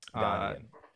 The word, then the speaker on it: Ghanaian: Ghanaian.